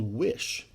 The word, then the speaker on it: Wysh: A company called Wish, spelled with a Y, W-Y-S-H.